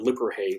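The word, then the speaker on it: Lipperhey: There was an optician, an expert at making lenses and eyeglasses, and his name was Hans Lippershey, sometimes spelled Lipperhay, the different pronunciations there.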